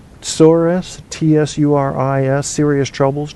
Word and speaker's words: tsuris: Tsuris, Tsuris, serious troubles, not minor annoyances. Out in Phoenix right now, they're having Tsuris. Tsuris, pronounced Tsores.